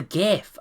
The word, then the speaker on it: GIF: gif actually also I'm going to keep pronouncing it gif because it's Graphics fuck you everyone yeah